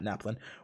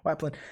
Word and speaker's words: Waplin: Not Naplin, Waplin.